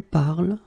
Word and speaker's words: parles: So it does mean that even if you write them differently, E, ES, and then ENT, you will pronounce them the same way.